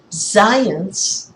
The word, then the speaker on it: Zajonc: Zajonc, pronounced to rhyme with science, but not spelled that way, as you can see,